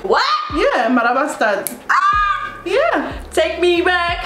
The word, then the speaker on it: Marabastad: Yeah, Marabastan.